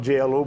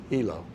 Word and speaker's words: JLO: It's called a Hilo motor, JLO, but I used to call it JLO motor, and Mr. Hall stopped me one day. It's pronounced Hilo.